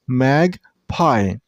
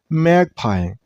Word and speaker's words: magpie: This name has two syllables, magpie. And while you pronounce this name, you should stress on the first syllable, I mean on mag, magpie, magpie.